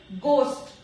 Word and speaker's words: ghost: Next one is ghost. It is not ghost. बहुत सारे लोग इसे ghost बोलते हैं, but the correct pronunciation is ghost. H is silent here.